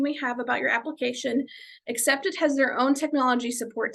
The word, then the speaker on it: Acceptd: application portal, which is a separate site called Accepted, which is spelled ACCEPTD.